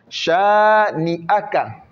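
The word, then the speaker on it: شانئك: Shani'aka. Le A, on doit bien le prononcer. D'autres vont dire Shani'aka. Shani'aka. Le A ne sort pas, non.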